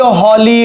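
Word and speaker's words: holy: क्योंकि अगर मैं इसको ऐसे लिखूं कि the Ganga is blank हॉली river, तो यहां पर my dear students mind it कि यहां पर एच साइलेंट नहीं है, इसको अपन ऐसे लिखेंगे ह, तो यहां पर अपने को ए ही लगाना पड़ेगा।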